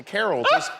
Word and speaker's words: Carol: Well, Carol, like a Christmas carol.